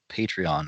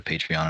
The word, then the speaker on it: Patreon: I'll see if I can get into Patreon and get us the new one. Right? So it's pronounced Patron. Only if you're drinking it.